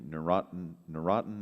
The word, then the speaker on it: Neurontin: about how much money was recovered on the Neurontin, is that how you say it?